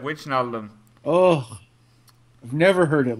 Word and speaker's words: Wijnaldum: It's Wijnaldum. It depends how you say it. One of the commentators yesterday said Wijnaldum.